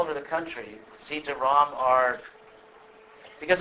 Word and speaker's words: Rama: pronounced rum and then if you make a long a ram it means the source of pleasure so again uh Rama